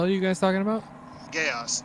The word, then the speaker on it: geas: Geas, Geas, or however you pronounce it. It's pronounced Gesh.